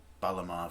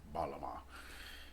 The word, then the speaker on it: Bağlama: It's, it looks like it's called Baglama, but it's got a funky G in there, this Turkish G. I don't even know how to pronounce it right. Most, I think, people cannot pronounce it if they don't speak Turkish or have difficulty pronouncing it. So you can just forget about that G and just say Baglama. That's the closest you'll get to it.